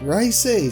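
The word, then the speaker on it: Reise: Rice, so it's pronounced Rice.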